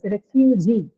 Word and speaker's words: refugee: So example is this, refugee. Refugee is a three-syllabic noun, right? Re, few, and G. Here the stress is on the suffix itself, right?